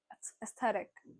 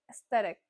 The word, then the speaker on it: aesthetic: It's aesthetic. Oh, that's wrong. It's aesthetic. Yes, even single stress can destroy the whole term.